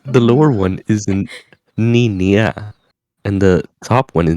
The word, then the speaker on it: niña: there is a soft consonant there. It's like nya. So there is no stop. Yeah, it's like There is no stop. There is no break. It's just nya. so it's niña.